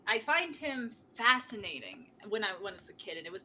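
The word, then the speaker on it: Iwao: person was probably um i butchered his first name all the time because it's weird it's i-a-o-w or i-o-a-w it's iowa iwa takamoto who is most known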